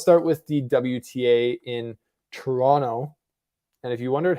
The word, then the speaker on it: Toronto: with the wta in toronto and if you wondered how it was pronounced that's how it's pronounced toronto not toronto i don't know we're